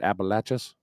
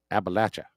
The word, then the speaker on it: Appalachia: All right, how do you say it? Appalachas. Appalachia. Appalachia. It's Appalachia.